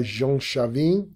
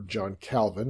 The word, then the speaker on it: Calvin: it was started by jean chavin or john calvin as we would pronounce it in english who is a university